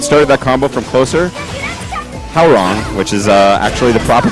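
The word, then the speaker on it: Hwoarang: It's how wrong, which is what I said was that's the good description of my previous pronunciation. How wrong it was. I was saying Huarang forever. I also say Huarang, and I'm wrong. So there we go. W is silent, apparently.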